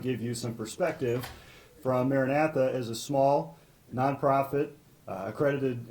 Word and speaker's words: Maranatha: Next, we have Matthew Davis from, how do I pronounce that? Maranatha.